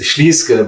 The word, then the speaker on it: Schliesske: Can you pronounce it correctly for everybody listening? It's Schliesske, but online I just go by or.